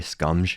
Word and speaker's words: Scumge: Scumge?